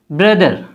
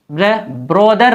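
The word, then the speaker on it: brother: इस तरह BR का तलफ़्फ़ुज़, जहाँ BR हो बीच में कोई वोवेल ना हो, जैसे brown brown, brain brain, ब्रदर ब्रदर, ब्रोदर नहीं ब्रदर, ब्राइट ब्राइट ब्राइट।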